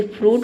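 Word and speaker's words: fruit: जैसे फ्रूट हो गया। ठीक है? फ्रूट में आई लेटर साइलेंट है।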